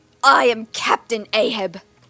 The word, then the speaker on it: Ahab: It's pronounced ahog. Is it actually ahag? Ahab. Okay. A ishol.